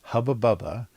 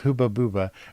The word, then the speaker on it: Hubba Bubba: the two things were Hubba Bubba because they don't have the uh sound short u sound they have the only um you is always ooh so there's like uber the gum was hooba buba and the other thing